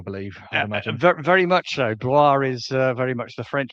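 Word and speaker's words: Blois: Oh, Bloyce is the pronunciation they've given him here. Um I I It's Anglicized I believe. Yeah, very much so. Bloor is very much the French pronunciation for Layston Bloor.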